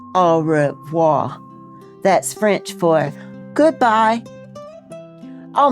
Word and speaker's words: au revoir: You say it like this, au revoir.